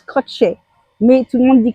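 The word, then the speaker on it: Kratie: Ça s'appelle ça se prononce crotchet mais tout le monde dit Crassier en France donc je prononce à la française.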